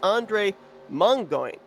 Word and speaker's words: Andre Mongoin: And I was actually given the correct pronunciation of the 27 is Andre Mongoin. Definitely a unique name. Yes, he is French, so I had to channel my inner French in knowing what his correct pronunciation is.